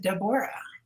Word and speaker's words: Debora: and she said well why don't you just pronounce it Deborah that's the Hebrew Annunciation and that was close